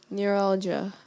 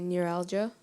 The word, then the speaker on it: neuralgia: that his headache was due to a neuralgia neuralgia am I pronouncing the word correctly when I say neuralgia sounds good to me neuralgia n e u